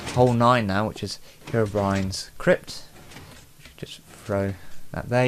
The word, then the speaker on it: Herobrine: little joke playing with hero blind brian blind blind brian herobrine there we go pronounce the thing correctly as you can see